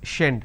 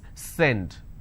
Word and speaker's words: send: they pronounce this so if you make a mistake you will end up pronouncing this as shend shendit it's not shend it's send so these are the